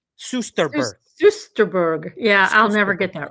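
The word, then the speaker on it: Soesterberg: Sosterberg is pronounced Susterberg. Susterberg.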